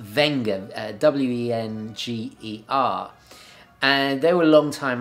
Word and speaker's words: Wenger: And in 2005, they actually bought their biggest rival, which was, I think it's pronounced Wenger, W-E-N-G-E-R.